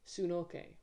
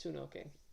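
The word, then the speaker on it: Hsun-ok: And I'm going to spell it out because there's a silent H. So Sunoke is H-S-U-N hyphen O-K. H-S-U-N hyphen O-K. Sunoke. You can say like, yeah, it's Sunoke or Sunok.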